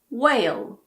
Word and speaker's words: whale: If a word starts with WH, the H is normally silent. Whale, what, when, white, why. But you should be aware that some native speakers pronounce WH as wh, so it's like an HW. Whale, what, when. It's not super common, but it exists in some dialects.